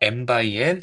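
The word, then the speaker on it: m×n: 그래서 일반적으로 m개 행과 n개의 열로 이루어진 행렬을 m 곱하기 n 행렬이 아니라 이 곱하기를 바이라고 읽어요, 바이. 그래서 m 바이 n 행렬이다.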